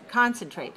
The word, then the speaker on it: concentrate: word is concentrate how many syllables do we have in concentrate three good where's the stress one right concentrate also a verb so